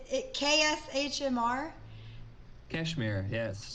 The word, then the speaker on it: KSHMR: I was going through your profile, and I saw that you worked with, I don't know how to say it. It KSHMR? Kashmir, yes. Kashmir.